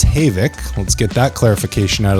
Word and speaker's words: Havik: pronounced Havoc. Let's get that clarification out of the way. Not Havoc.